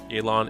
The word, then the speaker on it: Yelan: make a good tianshu Elon is indeed the correct pronunciation I'm just like but the English in me is just like why e yilon because if I said yaylon yeah you probably just switch it to an a I guess I don't know